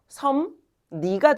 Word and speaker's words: 섭리: 어, 얘는 섭리라고 써 있지만 결국 발음 뭐가 돼요? 섬니가 되죠.